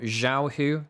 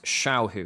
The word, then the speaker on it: Xiao: way quick pronunciation thing it's not Xiao spoken with like a z it's shiao as as though is an sh in English shiao rather than Xiao um and Shia means